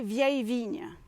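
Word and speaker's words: vieilles vignes: to say it so if you just say V V like V like the letter V so V and you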